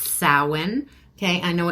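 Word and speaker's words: Samhain: you that's what we call it okay it's pronounced sa okay I know it's spelled samine but that's it's pronounced sa okay all right so we're going to look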